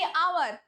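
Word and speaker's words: hour: हम एकदम भगेभगे बोलचीी और जो अभी बोली आवर तोख एच जो प्रोनाउंसिएशन शे हो हम साइलेंट एच ए के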